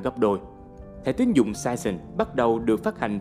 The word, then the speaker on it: Saison: Season được đọc là Saison theo tiếng Pháp, có nghĩa là mùa.